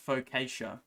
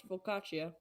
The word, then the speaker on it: focaccia: So, I always thought it was pronounced focaccia. no, it's focaccia.